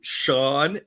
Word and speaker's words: Sean: Geraldine, could you please send my poor co-host a picture to Sean, SEAN. It's spelled scene at Like Reptile. Sean Connery, Bill. Just like Sean Connery.